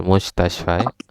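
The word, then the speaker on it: مستشفى: Jadi ini bacanya fil mustashfa. Enggak ada ya, ini bukan ya Teteh, tapi alif ini.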